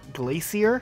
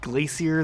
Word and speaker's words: Glacier: Halo Reach firefight days someone said the level was called Glacia like something can be glacier than you levels called glacier I think most people